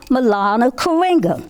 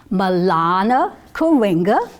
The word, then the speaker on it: Maulana Karenga: Maulana Karenga. So, in the village of friendship, we're going to learn about Kwanzaa because Dr. Karenga, and I want you to say his name, Maulana Karenga.